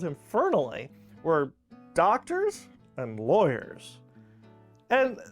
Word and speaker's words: Fernley: Fernley is a good Welsh name, and it's pronounced just like it's spelled, F-E-R-E-N-E-L-E-Y. Fernley.